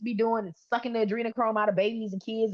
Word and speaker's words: adrenochrome: Maybe Marcus, you can help me pronounce this right. The anacron chronocchrome. Anacronocchrome. Uh, adrenocchrome. Adrenochrome.